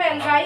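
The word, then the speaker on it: algae: Organism यानी जिन्हें हम एल्गाई कहते हैं उनकी ग्रोथ से फॉर्म्ड होती है, बनती है। एल्गाई is pronounced as एल्गी। एल्गाई को हम एल्गी भी प्रोनाउंस करते हैं, या सिंगुलर इसका एल्गा होता है एल्गाई का।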